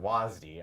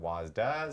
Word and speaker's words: WASD: uh pronounce this but I've always called it wasi other people call it wasda some people call a wd we need a poll